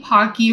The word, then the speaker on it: Pocky: Pocky rhymes with hockey.